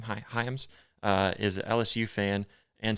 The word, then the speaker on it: Hyams: Hyams, is an LSU fan and Saints fan because he's from Louisiana.